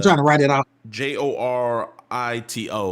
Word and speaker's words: Jorito: to write it out j o r i t o like Dorito but jorito oh jorito right y'all